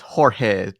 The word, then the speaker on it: Jorge: Oh well, it's same as George, but in Spanish, so it's Jorge Gutierrez.